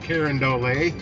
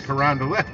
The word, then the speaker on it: Carondelet: no it's not Gravois it's Gravois it's not carandole or Quran delay it's Carondelet apparently we just pronounce it like that here in St Louis